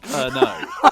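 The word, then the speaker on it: Pernod: is perod wait what it's spel but it's pronounced perno oh I'm thinking of no listen to me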